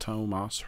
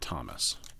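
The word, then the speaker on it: Tomáš: Tarot her ruse and Tomas hurtle at least I know how to say it's Tomas not Thomas I want credit for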